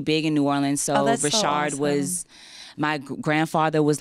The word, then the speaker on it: Richard: up your name because everyone's been telling me your last name is pronounced differently Rashard that is my name I'm not trying to